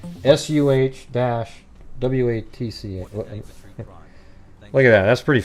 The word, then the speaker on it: Saguache: This official release it actually tells you how to pronounce that. SUH-WATC.